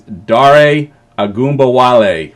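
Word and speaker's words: Dare Ogunbowale: I've actually learned how to say it. I've been calling him Dare all offseason. I actually heard it said finally. His name is Dare Agumbawale.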